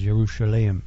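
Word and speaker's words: ירושלים: Jerusalem is Yerushalayim, and so on and on.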